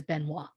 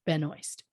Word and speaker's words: Benoist: me wants to say her last name is Benoit. Yeah. But I went and watched YouTube videos of her saying her name so I could pronounce it the way she wants it pronounced. And she says Benoist.